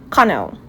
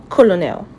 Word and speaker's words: colonel: For this word you say connel. My uncle is a connell not colonel. Connell.